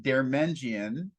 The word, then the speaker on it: Deirmendjian: mean you pronounce my my last name is pronounced dermenjian um but usually I'll give you a fun